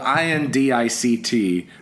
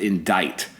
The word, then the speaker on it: indict: way a word spelled i-n-d-i-c-t pronounced indict instead of indict why would a c be silent that's insane anyway America